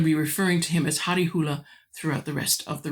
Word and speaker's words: Harry Hole: description box, says that how we should pronounce it, or how it would be pronounced in Norwegian, is Harry Hule. There we go. I'm going to be referring to him as Harry Hule throughout the rest of the review.